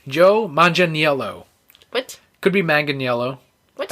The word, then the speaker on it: Manganiello: I can't pronounce that last name. Joe Manganiello. What? Could be Manganiello. What? I think it's Manganiello.